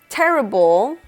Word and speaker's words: terrible: Terrible in Spanish is terrible. Terrible. So we have a double R sound there.